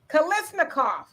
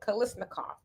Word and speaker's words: Kalashnikov: Kalashnikov. It's not said how it's spelled. Kalashnikov.